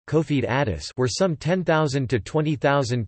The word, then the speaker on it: Confederados: the Confederate owes Portuguese pronunciation cofee Dadis were some 10,000 to